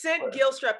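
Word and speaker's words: Cint Gilstrap: can definitely find me it's scent gill strap is spelled c-i-n-t guilt strap g-i-l-s-t-r-a-p and it's important because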